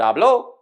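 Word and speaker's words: habló: stress but the word ablo with the second syllable stressed is the predate form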